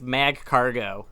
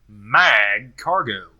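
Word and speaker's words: Magcargo: Well, are you pronouncing it as a hard G, like Mag Cargo?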